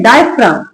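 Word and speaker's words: diaphragm: डायफ्राम। डायफ्राम। सीधा म का साउंड आएगा। जी का नहीं आएगा। यहां पे भी जी लिखा हुआ है बट जी कहीं पढ़ा नहीं जा रहा।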